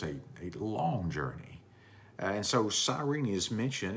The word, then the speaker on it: Cyrene: Let's talk about Cyrene. Cyrene is how some would pronounce it there.